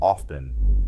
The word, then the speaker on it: often: The most common example is the word often. This is one of the most commonly mispronounced words in the English language. Remember that t is silent in often.